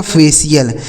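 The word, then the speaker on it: facial: देखिए सी आई एल का उच्चारण हो गया सी एल यह लिखा गया आपका फेशियल क्या लिखा है मेरे दोस्त फेशियल इसे पढ़ा जाएगा फेशियल यानी टी आई एल लिखा हो तब भी सी एल पढ़ा जाता है और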